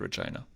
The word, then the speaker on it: Regina: seats in Saskatchewan except Regina. It was the Liberals. So, the city that rhymes with fun.